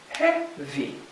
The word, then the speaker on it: heavy: together let's look at heavy heavy this is stressed on the first syllable so that's going to